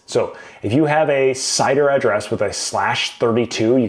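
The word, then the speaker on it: CIDR: Cider blocks. God bless cider blocks, right? How do they work? Cider size. I always call it cider. Lane might have other ways of pronouncing it that are wrong, but you you pay attention to me.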